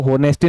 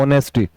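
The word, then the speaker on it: honesty: रखा है मेरे भाई इसको होनेस्टी नहीं पढ़ा जाता इंग्लिश में जब अपन इसका उच्चारण करते हैं प्रोनाउंसिएशन करते हैं तो ज्यादातर बच्चे होते हैं वो इसको क्या पढ़ते हैं मेरे भाई इसको पढ़ते हैं ऑनेस्टी नॉट ए ऑनेस्टी इट इज ए ऑनेस्टी ठीक है और मेरे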